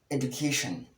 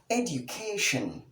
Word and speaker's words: education: Well, this word is wrongly mispronounced as education. Education, but the correct pronunciation of the word is education. Education. Education. Education with the short e sound, the d sound, the background yet sound, the u sound, that's the short u sound, the k sound, the